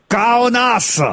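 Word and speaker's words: Kaunas: puisque c'est au stade ça s'écrit K a u n a S mais c'est vrai que ça se prononce donc kaonas ouis ouis ben oui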